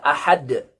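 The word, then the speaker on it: أحد: Kemudian kesalahan yang keempat, masih pada ayat yang pertama, ketika membaca ahad, a hamzah, kemudian ha, ya, kemudian dal, ahad. Nah, ini ada beberapa kesalahan. Kesalahannya adalah ketika membacanya tanpa qalqalah pada huruf dal sehingga dibaca menjadi ahad,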